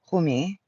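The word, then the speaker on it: Kuthumi: Cutami pronounced Kumi is an ascended master who appears as welldressed Indian man with a golden aura.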